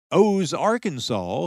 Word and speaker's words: Aux Arkansas: But the French developed another name for their post, calling the little settlement O Arkansas, spelled Aux Arkansas, meaning at the home of the Arkansas.